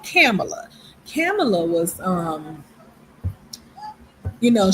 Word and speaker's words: Kamala: My mom say, "Don't be pronouncing that lady name like that." Not Camala, but Camela.